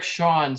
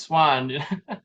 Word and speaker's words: Swahn: Like my last name is Swahn, but it's not spelled like the bird. There's a silent H in there for some reason. Yeah. It used to be Swahn, and somehow over the years, our birth certificate got misspelled from a V to an H, and they just kept it.